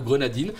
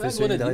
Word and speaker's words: Grenadine: Alors, Grenadin ou Grenadine, selon la prononciation. Grenadine, vous préférez Grenadine? Moi, j'écoute cette petite apostrophe. Grenadine, alors c'est Grenadine.